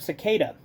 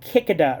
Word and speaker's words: cicada: I horribly mispronounced Higurashi's, where I mispronounced the word cicada. I said kikada or some shit.